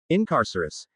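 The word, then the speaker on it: Incarcerous: Incarcerus, Harry repeated, trying the word out. Enunciate the second syllable.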